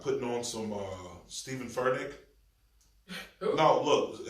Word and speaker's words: Furtick: It's Furtick.